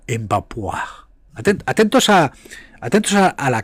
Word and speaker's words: Mbappé: Lo digo porque en España, la España de los catetos y paletos, la España de los recogeceitunas dicían Mbappé cuando se pronuncia Mbapu atentos a atentos a la clase.